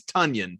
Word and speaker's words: Tonyan: funyuns yeah he was we didn't find out though how to pronounce his last name until like week seven very late yeah very late and i still screw it up all the time it is tonyan for the people today